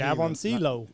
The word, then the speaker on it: Jaboncillo: I guarantee Jaboncillo. My buddy, it's an H for a J. Hobensia.